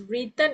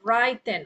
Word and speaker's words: written: Ok, this is the pronounce this as written instead of writen.